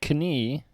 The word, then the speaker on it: knee: For instance, in words like knee and knock, the K was once pronounced but has become silent in the modern language. So we used to say knee and knock.